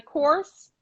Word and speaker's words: Kors: that i love that and then you go by course yes like michael kors okay of course because